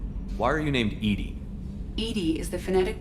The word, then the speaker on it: EDI: airlock is jar why are you named edie edie is the phonetic pronunciation of edi that is an acronym for